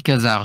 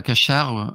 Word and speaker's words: Khazar: Ce que j'ai Alors, moi je dis Khazar, je dis pas Cachard ou Kajar, moi je dis Khazar, mais peu importe la prononciation.